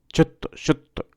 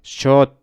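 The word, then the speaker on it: ちょっと: chotto. Remember, it's not shotto. It's chotto.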